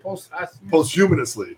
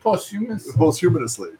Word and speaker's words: posthumously: Posthumanously. Posthumously.